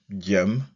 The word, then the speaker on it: gm: letters G, M, and we can pronounce it gem or gem.